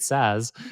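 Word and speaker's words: SaaS: with the way but you pronounce it SAS like you're you mean software as a service every time you say SAS right? Indeed. Yeah. Yeah. Yeah. And so it's I I like that. I'll like I'm probably going to adopt now. So like listeners, you heard it you heard me say this here first. I'm now going to start pronouncing it sass. Uh to to distinguish against sass sassiness.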